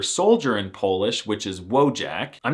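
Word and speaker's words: wojak: They can be manly like the word for soldier in Polish which is wojack. I'm not even kidding. The wjack meme and the word are Polish, but it's actually pronounced voyak which is the most alpha Slavic masculine thing I've heard all month.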